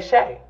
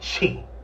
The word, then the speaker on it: Chè: And he can actually pronounce my fucking name instead of saying Chi.